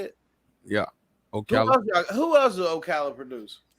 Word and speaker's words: Ocala: Ocala.